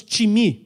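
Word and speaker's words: τιμή: honra ela é time só que não é time i m y é em grego t i m como nós falamos de time de futebol só que pronunciamos time e a palavra time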